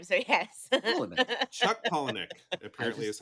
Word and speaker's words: Palahniuk: I believe, is the Paula, like Paula and Nick, your friendly next door neighbors. Paula is my mom's name, so yes. Polinick.